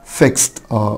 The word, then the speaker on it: fixed: fixed قلنا الصوت الاخير هنا سا، يبقى الاي دي بتنطق تا، فعشان كده قلنا fixed. fixed الاي مش هتنطق والدي هتنطق تا.